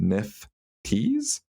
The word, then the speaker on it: nifties: CNBC claims insiders call NFTs nifties, pronounced nifties. Nifties.